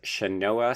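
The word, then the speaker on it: Sianoa: I've got it written down phonetically. It's Shanoa Smith McPhee.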